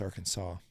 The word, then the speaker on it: Arkansas: But it's spelled exactly the same. Yeah, it's Arkansas.